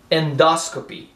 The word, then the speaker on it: endoscopy: it's like that gauge gauge octreotide or octreotide endoscopy the stress is here endoscopy life threatening we pronounce it like ring spurring spurring blade sangramanto